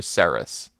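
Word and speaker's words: Cerys: gone of cuck odd no no no hard K Karis I was pronouncing it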